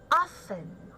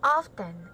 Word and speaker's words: often: okay now we have often okay it is not often all right it is silent tea okay let me write